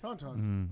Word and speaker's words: tauntauns: be conducted by, and I'm hoping I'm not pronouncing this incorrectly, it's from The Empire Strikes Back, Tauntauns? Tauntauns.